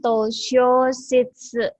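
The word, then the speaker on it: 図書室: Ini bacanya toshoshitsu.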